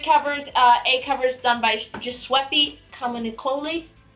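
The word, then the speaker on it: Giuseppe Camuncoli: A covers done by Giuseppe Comunicoli. I think that is how you say his name. You nailed it.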